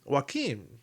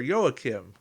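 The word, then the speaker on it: Joachim: to yesteryear and um Joaquin or yoakim whichever way you want to go is you know the proper pronunciation or the way Khan said it in Wrath of Khan but whenever you inflict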